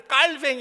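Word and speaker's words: Calvin: 우리 칼빈이 영어 이름인데 그러나 우리 프랑스에서 공부하신 분들은 칼빈이 프랑스 사람인데 깔뱅이 하지.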